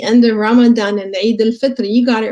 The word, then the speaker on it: Eid al-Fitr: So yes, Eid al-Fitr is the right word, right pronunciation, and it is called the meaning of it.